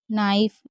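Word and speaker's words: knife: rice लाइफ राइ वाइफ नाइफ देखिए के एन साथ में होता तो के साइलेंट होता है इसलिए हम इसे नाइफ पढ़ रहे हैं के को नहीं पढ़ रहे पाइप राइप वाइप स्वाइप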